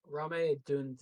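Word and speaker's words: Rome Odunze: And then the Bears continue to add to their receiver room with Rome Donzi. Oh Oh, man, I know how to pronounce it. Rame Dunze.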